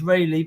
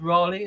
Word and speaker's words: Raleigh: You'll know, Lou, in England it's pronounced Rayleigh, but I assume in the States it's pronounced Raleigh.